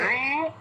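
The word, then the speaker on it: ঋ: এই যে এটার কথা বলছেন তো, রি রি হ্যাঁ হ্যাঁ হ্যাঁ হ্যাঁ রি কথা বলছি। রি রি রি অনেক রি রি রি, হ্যাঁ হ্যাঁ হ্যাঁ, এরকম দেখবেন অনেক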